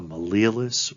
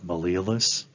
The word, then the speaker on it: malleolus: A malleolus or malleolus, you can pronounce it either way. I like malleolus because then that's Latin, and then two of them are malleoli.